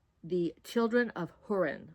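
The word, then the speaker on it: Húrin: Now, this one is by JRR Tolken and it's called The Children of Hurin. I think that's how you pronounce it. It's got a little accent on the U and it's edited by Christopher Tolken.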